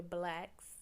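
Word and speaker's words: Blax: is every everywhere everywhere but it's spelled b l a x black b l a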